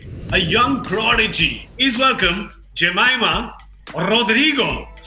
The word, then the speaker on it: Jemimah Rodrigues: young prodigy is welcome Jemima Roderigo thank you for pronouncing my name correctly I mean yeah that's